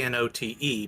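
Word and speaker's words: Knote: middle is K no no my last name is k n o t e but it's pronounced note ah okay got it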